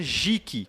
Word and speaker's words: geek: Para quem não sabe, geek, né, se pronuncia geek, que é G-E-E-K, certo?